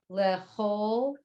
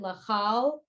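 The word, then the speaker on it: לכל: Karov Adonai lechol. So you might say, why isn't it lechal? But a lot of words that it looks like an ah, but they're pronounced more o.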